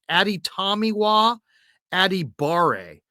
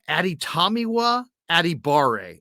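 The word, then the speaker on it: Adetomiwa Adebawore: defensive end from Northwestern and his name is pronounced ADI tamiwa adibare uh ADI tamiwa adibare NFL Scouts are are practicing this one because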